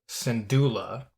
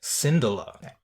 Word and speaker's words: Syndulla: So we pronounce it Hera Syndulla, and Thrawn pronounces it Syndulla.